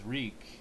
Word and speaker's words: Reek: mostly his focus on my name's reek and rhymes with sneak i gotta remember and